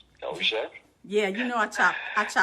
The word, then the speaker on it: Dozier: Well, I don't think it'd be a pronunciation on my last name, Dozier.